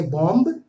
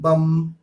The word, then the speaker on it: bomb: انگریزی کے لفظ میں ایم کے بعد بی آ جائے تو بی ہمیشہ سائلنٹ رہے گا، اس کا کوئی ساؤنڈز